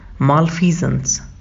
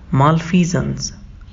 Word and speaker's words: malfeasance: तो हम बोलेंगे मालफीजेंस। मेरे साथ रिपीट करिए, मालफीजेंस।